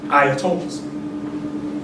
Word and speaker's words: ayatollah: The leaders in Iran are called ayatollahs. Bad pronunciation, that's Europeans again.